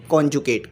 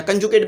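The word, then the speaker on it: conjugate: अच्छा, अब जो है वो कंजुकेट नहीं, कॉन्जुकेट। कुछ लोग कंजुकेट भी पढ़ते हैं, कुछ कॉन्जुकेट भी पढ़ते हैं। तो राइट प्रोनाउंसिएशन जो होगी वो होगी कॉन्जुकेट, या कंजुकेट भी कहलें तो चल जाएगा।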